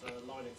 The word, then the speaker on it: Linux: Obviously, gave out the WAV file, famously to say, hello, my name is Linux Torvalds, and I pronounce Linux.